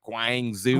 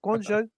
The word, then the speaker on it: Guangzhou: Although I am happy that more people are pronouncing Guangzhou properly, because remember there were like people kept saying like Guangzhou.